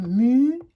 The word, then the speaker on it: muguet: Une guenon, du muguet. Je ne le prononce pas ce U, je le prononce que pour faire G.